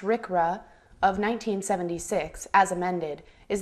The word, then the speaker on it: RCRA: conservation and Recovery Act pronounced Rick rrah of 1976 as amended